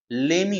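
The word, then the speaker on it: lemme: Next है लेट मी का जो है स्लैंग वर्ड वो होता है लेमी। इसका जो प्रोनाउंसिएशन होगा वो क्या होगा, लेमी होगा, ठीक है।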